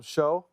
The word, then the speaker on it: Shough: We didn't know how to pronounce his name. Yeah. You call him show.